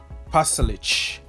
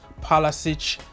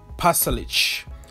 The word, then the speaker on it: Pasalic: This is the first time that I managed to pronounce Pasalic. I always like pronounce Pasalic, Pasalic, or whatever it was, but I'm happy that I can correct myself and pronounce Pasalic.